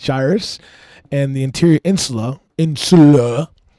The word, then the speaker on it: gyrus: It's somewhere up here, the inferior frontal gyus pronounced gyrus and the interior insula insula which are not the fear centers.